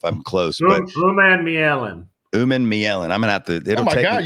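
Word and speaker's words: Umanmielen: Uman Mielen.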